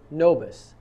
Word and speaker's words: nobis: quorum spelled c-o-r-a-m and the next word is nobus n-o-b-i-s don't confuse that with rid of error quorum vobus which is spelled with a v means by us in